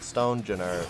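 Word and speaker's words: Stonjourner: Yeah, Stonejourner would be the pronunciation.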